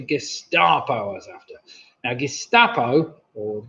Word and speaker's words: Gestapo: Now, Gestapo, or Gestapo, kind of rhymes with Picasso, if you say it like with an R.